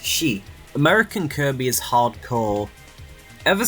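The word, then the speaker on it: 死: number in Japan with the pronunciation of it being identical for the Japanese word for death which is she American Kirby is Hardcore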